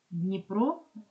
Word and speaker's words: Дніпро: Дж позначає один звук Дніпро звук дь бо ні ділиться своєю м'якістю яку отримує від і таким чином варіант г